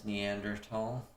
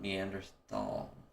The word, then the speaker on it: Neanderthal: Tall means valley in German and it's pronounced like tall.